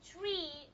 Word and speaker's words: tree: So, you're going to say tree, but you're going to say star, not star.